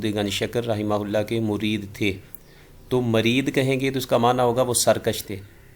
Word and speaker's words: مُرِید: شکر رحمہ اللہ کے مرید تھے، تو مرید کہیں گے تو اس کا معنی ہوگا وہ سرکش تھے۔ تو صحیح تلفظ مرید ہے، نہ کہ مرید۔ تو اس دونوں میں فرق